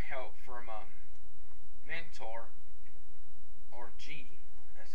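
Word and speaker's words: Ji: he gets the Samurizer taken away by Mentor G, which is J-I, that's how it's pronounced in the show.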